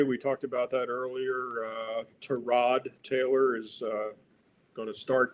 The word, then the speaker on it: Tyrod: It's correctly pronounced Tyrod, but he doesn't correct people.